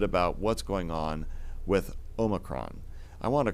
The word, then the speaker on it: omicron: he's like no no you're saying it all wrong it's omicron so indeed say something